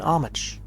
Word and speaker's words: homage: An homage. Homage. I guess that's how they properly spell it, I guess. Even though it's spelled with an H, but pronounced a different way.